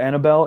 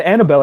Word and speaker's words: Annabelle: Normally Bell would be B-E-L-L, but this one having an E at the end, it's just silent because it's a name.